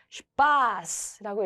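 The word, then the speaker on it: Spaß: SP로 시작하면 스프가 아니라 슈프였고요. 그러면 얘를 읽을 때 슈파스라고 읽어야 되겠죠.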